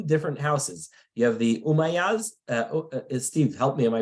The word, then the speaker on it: Umayyads: You have the Umayyads. Steve, help me. Am I pronouncing it correctly?